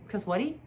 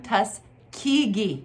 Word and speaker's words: Tuskegee: Tuskegee Airmen? What'd you say? Tuskegee Airmen. Tuskwhatty? Tuskegee Airmen? Tuskegee.